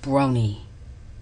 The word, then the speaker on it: Brony: Well, this is about all you brownie Bronny. Sorry, not Brownie. Uh, Bronny. It's Brony. Seriously, you could at least pronounce the name right.